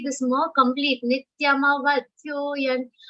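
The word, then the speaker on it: नित्यमवध्योऽयम्: Now people end up saying Nityam vadhyoyan. Nityam vadhyoyan means that ma becomes half. And how it becomes Nityam vadhya, which is the wrong interpretation. That is why that ma should be complete when you are saying the shlokas. So whatever pronunciation your trainers are telling, you have to listen carefully. Nityama vadhyoyan ma vadhya. That becomes a sar and becomes Nityam avadhya.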